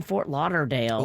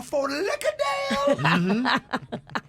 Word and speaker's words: Fort Lauderdale: So if anybody knows any cool restaurants in Fort Lauderdale. Oh, you're saying it wrong. Fort Lauderdale.